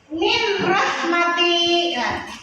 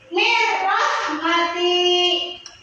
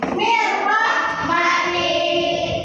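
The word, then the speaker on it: من رحمة: Nah, di sini ada nun mati bertemu huruf ra. Min rahmati. Benar apa salah? Salah. Bagaimana cara bacanya? Siapa yang bisa? Mirrahmati. Ikuti ibu. Mirrahmati. Sampai di sini paham?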